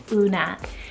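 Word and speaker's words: Oona: Then we have the wonderful name Una, spelled O-O-N-A, Una.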